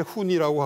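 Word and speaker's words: Hunni: 배우에 있었던 그 세력 라틴어로는 이제 훈니라고 하고 그다음에 이제 그 그리 그 그리 사람들은 운노이라고 H 발음을 안 하고 운노이라고 이제 표기를 그 했는데요.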